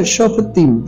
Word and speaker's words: Shofetim: Se pronuncia Shofetim, Shofetim.